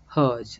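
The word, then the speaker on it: Hergé: is the french rg the french pronunciation of rg is herge so that is how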